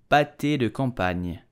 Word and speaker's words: pâté de campagne: So how do you pronounce it correctly in French with a typical Parisian accent? You will say pâté de campagne, pâté de campagne, pas de campagne, campagne, pâté de campagne.